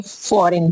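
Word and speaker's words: foreign: एन ए टी net okay तो next है फॉरेन फॉरेन मी्स क्या होता है विदेशी होता है फॉरेन की स्पेलिंग देख सकते हो आप एफ ओ आर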